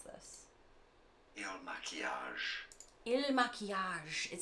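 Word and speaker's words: Il Makiage: How do I pronounce this? Il Maquillage.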